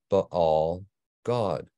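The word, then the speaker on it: Baal-gad: Baal Gad, which according to the Masoretic vowel pointing in the Book of Yahushua, is pronounced Baal God.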